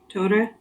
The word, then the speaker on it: Torre: Capital TOH. Line. RREH. It features a sharp tap or trill on the double R sound. Right. Torre.